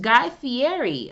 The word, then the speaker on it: Guy Fieri: that okay uh next guy fieri i believe that's how you pronounce his last name has a new deal